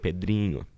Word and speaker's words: Pedrinho: It has the nh, which Yeah, makes yeah. like that like little. It's not an ñ sound, but it's like the. Yeah. It's like Pedrinho, or like if it was Pedrinho.